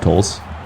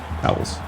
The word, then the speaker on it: Towels: It's not tolls. Towels. John Reese Towels. Been saying his name wrong all day.